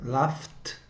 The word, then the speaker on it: laughed: Okay, so laugh, laughs, laughing, laughed, laughed. So we pronounce like this, laughed. Why? Because it's F. The final sound is F, and then we have pronunciation of ED, T, laughed.